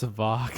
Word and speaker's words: Savac: It's pronounced like Savage because that's where it's from. So why would I go from Savage to Savac? It makes no sense. Savac.